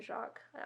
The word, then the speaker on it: Jacques: is Brian Jacques who I believe it's brother Jacques that's how I've always pronounced it but he wrote all